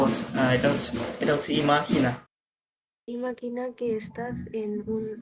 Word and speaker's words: imagina: ইমা, এটার প্রোনাউন্স কি? ও আচ্ছা, এটা হচ্ছে ইমাহিনা।